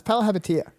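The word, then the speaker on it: Palihapitiya: All right, well, you pronounce his last name. No, it's Palahapitiya. Palahepatitis, yep, I knew that.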